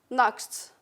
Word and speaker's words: Nacht: Nacht, nacht. So here is the ED, and it's pronounced K and T, so here it's K and T. What do you hear? Nacht, it's not knocked. Nacht, K and T, so nacht, rocket.